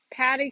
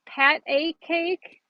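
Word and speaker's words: pat-a-cake: had a little lamb, Patty Cake, Patty Cake. Wait, I always said Patty. It's Pat a cake.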